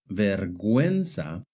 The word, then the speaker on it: vergüenza: But in the word vergüenza and in the word pingüino, the U is pronounced.